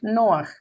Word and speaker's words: Noaj: Noaj. Este se escribe Noé. Noaj.